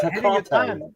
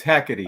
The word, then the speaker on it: Hecate: It's Hecate. And they pronounce I've heard they pronounce Hecate, whatever. There's no accent there on the E, so I don't know. Latins, unless there's an accent, we don't emphasize it, Quit making excuses, Roger.